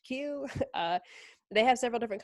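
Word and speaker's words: Qu: u series it's pronounced q lots of people in the americas like to say q u but since i joined the team it is pronounced q uh they have several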